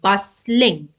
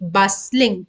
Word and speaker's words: bustling: you pronounce the word bustling okay so you're not going to say t bus link T is going to be silent okay so bustling means